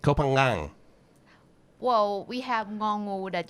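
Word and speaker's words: København: a scooter around copenhagen so you do pronounce the g it's like a soft g kopang well we have mongo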